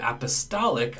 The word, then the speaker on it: apostolic: In the word apostolic, I do pronounce the T.